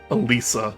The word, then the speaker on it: Alisa: Alisa is how you say the name.